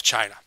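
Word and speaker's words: Qin: lineage back through time to shiang D okay China eventually gets its name from the Chin Dynasty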